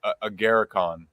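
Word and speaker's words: Agarikon: Is it our Garicon? Am I Close. saying that right? Yeah, very close. Agaricon. Agaricon.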